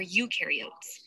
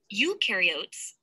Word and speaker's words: eukaryotes: Eukaryotes, the U rhymes with do, they do have membrane-bound organelles.